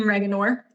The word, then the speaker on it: Reager: I always have trouble with his last name, so I started pronouncing it like oregano to help me remember.